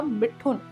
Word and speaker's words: मिथुन: Family में था, तो जो उनके नाम का प्रोनाउंसिएशन था वो किया जाता था मिठुन, यानी कि मिठुन चक्रवर्ती। और जब फिल्मों में वो आए तो उनका नाम हो गया मिथुन और इसी नाम से वो फेमस हुए।